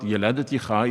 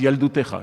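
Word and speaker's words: יַלְדֻתֶךָ: It's not Yeladeticha, it's Yaldutecha. It's spelled the same way.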